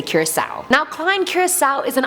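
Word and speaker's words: Curaçao: Curacao, both pronunciations are apparently correct, so whichever one you guys want, I'm gonna say Curacao.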